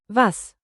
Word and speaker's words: was: Say vas like vase not was and keep crisp east.